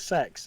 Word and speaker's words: CeX: I pronounce it Kex, but I saw an advert and they pronounce it Sex, and Yes.